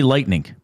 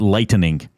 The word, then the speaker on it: lightning: How do you say it's not I say lightning. As we should. It's not lightening.